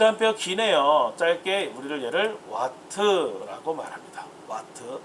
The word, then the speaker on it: 와트: 짧게 우리를 얘를 와트라고 말합니다. 와트. W라고 읽으시면 안 되겠습니다. 와트.